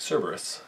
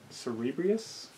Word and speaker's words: Cerberus: let you say first Cerberus Cerberus some reason I grew up thinking it was Cerebrus you've been watching too